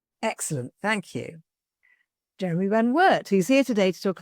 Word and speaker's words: Van Wert: your surname oh no the American pronunciation of it is Jeremy Van Wart excellent thank you Jeremy Van Wart who's here today to